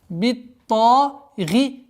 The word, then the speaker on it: بالطاغية: биттагия. Та марбута переходит в звук ха, касра переходит в сукун. И таким образом, 5-й аят. فَأَمَّا ثَمُودُ فَأُهْلِكُوا بِالطَّاغِيَةِ. Обратите внимание на четкое произношение огласовки касра под буквой гайн.